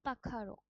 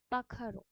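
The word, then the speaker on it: pájaro: Spanish আলফাবেটে এই জিনিসটা role আর এর মত উচ্চারণ হয় এল যেটার অর্থ হচ্ছে ডগ বা কুকুর এল পাখার এই যে এর মত যে আলফাবেটটা স্প্যানিশে আছে সেখানে সেটা খয় মত উচ্চারণ হয় এটা হচ্ছে এল পাখার মানে বার্ড বা পাখি এলিফান্তে এলে যেটার মানে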